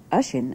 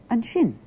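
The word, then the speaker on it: an sin: In the episode of the serial you've just seen, you heard an shin, or ashin as it's more usually pronounced in speech, used to mean there when you're pointing at something. It's there. Ha, an shin.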